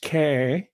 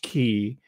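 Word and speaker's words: Cay: It's called Paradise K, C-A-Y. And for the nitpickers, sometimes it's pronounced key, but we locals down in Tiburon, this is an enclave.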